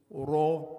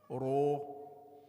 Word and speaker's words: ر: So my mouth is in the position of a u sound, but I'm pronouncing a.